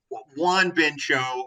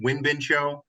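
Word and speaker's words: Won-Bin Cho: For me, like Juan Bincho, who I believe is actually, he pronounces it Win Bincho. I could be wrong about that. I'm pretty sure I've heard him say that.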